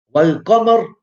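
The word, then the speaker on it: والقمر: Like Wal Qamar. Yeah. So the yam is pronounced.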